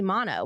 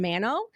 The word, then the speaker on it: Manno: it's Mano well so the Italian pronunciation it's supposed to be mono but my husband's family has always done Mano and that's just so people call me either one but technically it